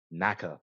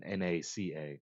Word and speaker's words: NACA: Naka or if you want to say the C as NASA then NACA.